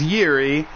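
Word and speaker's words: Jiří: So his name, I butchered his name. It is Jiri, and we will go ahead and announce that correctly going forward.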